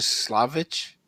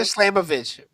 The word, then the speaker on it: Slamovich: a winner to Jordan Jordan Grace and Masha Slavic. Wait, hold on. Hold on. What? I said it right. I said it right. I said it right. Masha Masha Slamovich.